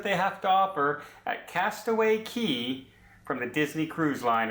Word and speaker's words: Castaway Cay: what it's called is a castaway key or Castaway Cay but it is pronounced castaway key according to the Disney representative that did my